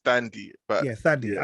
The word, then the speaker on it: Thandiwe: So, British actress Tandy Newton. Randomly, I actually didn't know her name had a W in it. I think it's pronounced Thandy, but Thandy. Yeah, I think it's pronounced that way.